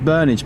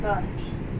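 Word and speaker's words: Burnage: Let's see if we can get a better stop here at uh I'm assuming it's it's pronounced Bernage because that's how the auto house pronounced it. We are now approaching Bernage.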